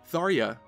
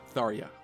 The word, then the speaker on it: Tharja: This would mean that the J in Tharja would be pronounced like a Y, Tharja.